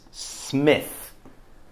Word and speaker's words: Smith: Spelt with an I, but we probably pronounce his name Smith because on the print, it actually says Smith, M-I-T-H, S-M-I-T-H. But also the family writer, and the family still existed there, they call it writer this, but they pronounce it Smith.